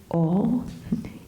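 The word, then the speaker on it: awe: Fíjate que en inglés hay una palabra muy maravillosa que es O, y que quiere decir asombro. Y se escribe A-W-E-O. Y desde un punto de vista de un oído latino es O.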